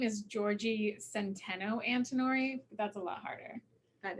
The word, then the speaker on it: Giorgi Antinori: Well, actually, my full name is Giorgi Antinori.